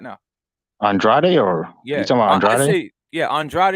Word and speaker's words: Andrade: andrade or yeah yeah andrade is the way i say it but he says to say his name andre or some